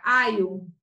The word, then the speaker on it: alho: E a pronúncia é como se fosse um I, vai ser aio.